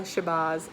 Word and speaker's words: Shabazz: Elsa from the future I just wanted to tell you the proper pronunciations of these names so the book X is written by ilyasa Shabazz and kekla Magoon I'm sorry for how